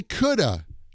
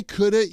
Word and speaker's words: could've: between those three and when we pronounce those we don't say oh I could have eaten cake or I would have eaten cake or I should have eaten cake we don't say that the way we pronounce that is like this I coulda I could've eaten cake if I had known I would've eaten cake I should've eaten cake I shoulda I woulda I coulda that's what when you